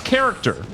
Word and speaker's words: character: in the middle because character is an example of CH at the beginning pronounced like that but I can't think